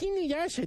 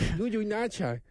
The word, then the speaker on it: Inuyasha: Or it's Inuyasha, not Yuyunacha. I mean, like, whatever.